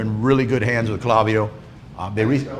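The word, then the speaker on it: Klaviyo: If you have a Shopify site though, on your Shopify site, I recommend that you use Clavio.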